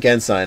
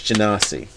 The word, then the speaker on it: Genasi: You got me saying Gensai now. We broke you. If it's Genesis, it's Genasi.